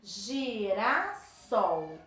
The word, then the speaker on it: girassol: é trissílaba trissílaba e qual é a sílaba mais forte de girassol vamos pensar vamos falar girassol girassol é o sol então é a última sílaba ela é ok se